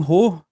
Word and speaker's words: Hoh: Is it Is it Is your surname Ho? I didn't want to. Yeah. Yeah, that's how you pronounce it.